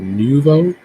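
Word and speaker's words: Denuvo: their DRM software uh sorry if I don't pronounce this right but did De novo did did Nouveau that's the correct way to say it uh so it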